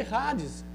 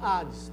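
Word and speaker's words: Hades: você queira pronunciar ok porque rades o h funciona como R você pode também ter neutro e falar Ades tá o xol também pode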